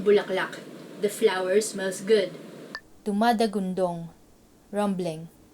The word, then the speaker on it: dumadagundong: Dumadagundong, rumbling. Dumadagundong, meaning rumbling. Doesn't it sound like it's a rumbling noise? Like, dumadagundong.